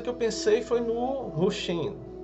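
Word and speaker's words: Wu Hsin: Vou chamar Hu Xin, que é a pronúncia correta.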